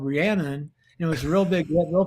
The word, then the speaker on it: Rhiannon: i a n o n n o n rhiannon i said where the hell did your mother